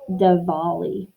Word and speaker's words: Diwali: So it's spelled Diwali, but it's pronounced Diwali.